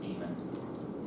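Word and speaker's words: daemon: mailer demon it's it's spelled demon but it's pronounced demon um it's like a a little a little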